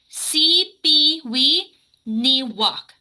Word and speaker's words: Sipiwiyiniwak: The nice thing about Cree language is the syllables are actually straightforward. So if you look at the actual word, you know the middle syllable yi, like yi, just skip that. Read the rest as it is. So C, P, we, and then skip the other one. Ni walk. C, P, we, ni walk.